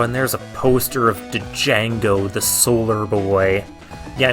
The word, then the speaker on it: Django: Oh, and there's a poster of Django, the Solar Boy. Yeah, I'm still pronouncing the D in his name.